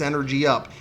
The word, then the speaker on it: Energup: Energup. Energup. Energup. Yeah, that's right. I said the name wrong a bunch of times. People left comments. They were pissed off about it. Sorry, it's Energy Up.